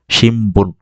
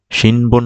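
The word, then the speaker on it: 新聞: পি পু পে পো, এগুলো যদি কোনো একটা থাকে তাহলে এই নয়ের উচ্চারণ ময়ের মতো হবে। যেমন এখানে দেখেন বো আছে, এই যে বা বি বু, বা বি বু, বো আছে, এই কারণে নয়ের উচ্চারণটা ময়ের মতো হবে। শিমবুন, শিনবুন না উচ্চারিত হয়ে হবে যে শিমবুন।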